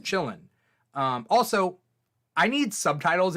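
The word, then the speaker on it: qilin: thing um and it's spelled like k or q i l i n or something like that um pronounced chillin um also i need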